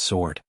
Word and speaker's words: sword: It'sed sword. The W is silent.